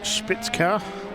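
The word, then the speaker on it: Spitzkehre: as he comes down to the hairpin are spitzker if you want to try and pronounce it correctly head down towards that Mercedes-Benz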